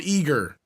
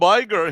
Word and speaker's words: Iger: Oh no, it's Bob Eager. It's Bob Iger.